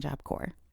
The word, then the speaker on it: Corps: Shiloh sh sh L job cor.gov and remember there's that silent s in job cor because the English language